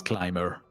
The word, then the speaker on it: climber: I'll say climber um that's a part of English that's really strange for me because as I said we Italians used to pronounce all letters in a word uh but let's go